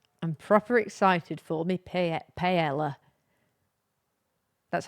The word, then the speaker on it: paella: I don't know in England everyone sort of says pella which I don't know why. Yeah. I think in the actual pronunciation you don't say the um L's.